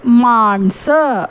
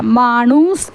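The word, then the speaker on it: माणसं: one person എന്ന് പറയാൻ ദോൻ മാൺസ് എന്ന് വേണം പറയാൻ അവിടെ മാൺസ് എന്നാണ് പറയാക മാണൂസ് എന്നല്ല പറയാ മാൺസ് എന്ന് വേണം പറയാൻ അപ്പോ ദോൻ മാണൂസ് എന്നത് ഒരു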